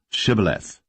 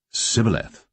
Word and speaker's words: Shibboleth: If he said, Nay, then said they unto him, Say now, Shibboleth. And he said, Sibboleth, for he could not frame to pronounce it right.